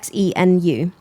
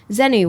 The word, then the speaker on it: Xenu: I think that's how you say it, Xenu.